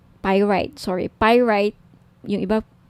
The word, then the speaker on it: pyrite: now if gusto niyo ng bracelet ito yyung pirate pyrite sorry pyrite yung iba pronunciation pirate pyrite okay 1,900 at may may